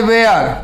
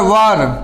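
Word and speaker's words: were: अब देखो यहाँ बाज, बेयर, बाज और वर, सही उच्चारण वर होता है ना, ये आता है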